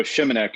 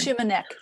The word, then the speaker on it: Shimanek: pronounce your last name, Shimunek. Chris, if you can unmute your mic and then tell me how to pronounce your name, I apologize. Okay, so Shimanek is the pronunciation on the last name. Shimanek, thank you so much.